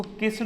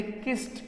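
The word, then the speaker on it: kissed: जैसे हमने किया किस्ट, इसको किस्ड नहीं कहते किस्ट, क्या बोलते हैं बेटा किस्ट।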